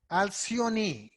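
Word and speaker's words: Alcyone: a certain name and that name was alcioni that's the correct pronunciation it's a very bright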